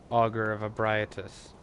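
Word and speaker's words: Augur of Ebrietas: And it's really neat because they added a parry effect to the Augur of Abriatus. Which, unfortunately, is how that name is supposed to be pronounced.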